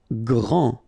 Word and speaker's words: Grand: Grand. Final D not pronounced.